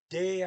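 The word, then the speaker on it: det: Here we got ja, de are den. That's D-E-T. T don't get pronounced, it's just de.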